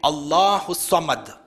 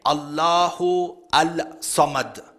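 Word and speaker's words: الله الصمد: You don't say Allahu Al-Samad. According to the rules of tajweed, the lam is silent, there is idgham, and you don't say Allahu As-Samad. You join it together, Allahu Samad.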